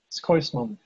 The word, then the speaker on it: Schoysman: Scoisman, is that the right pronunciation? Skoisman. Scoisman, yeah, from the Yeah.